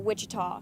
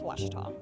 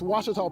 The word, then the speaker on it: Ouachita: University back in Texas everybody pronounces it Wichita but really it's Ouachita Washington how would you pronounce it it's Ouachita Baptist University get it right it's Ouachita people it's Ouachita